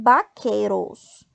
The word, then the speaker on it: vaqueros: O que eu quero que vocês se atentem é em vaqueiros. Vaqueiros. E lembra que o V tem som de B, né?